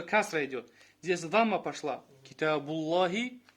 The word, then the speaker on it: كتاب الله: Китабуллахи. كتاب. Да, вот слово. Смотри, Китабуллахи, вот это называется ляму тавхим. То есть грубая лям. Когда мы говорим Аллах, то есть лям произносим грубо, а когда произносим мягко.